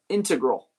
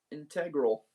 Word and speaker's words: integral: He's been integral. I learned that's the way you pronounce it. It's not integral, it's integral. uh stress on the first syllable integral.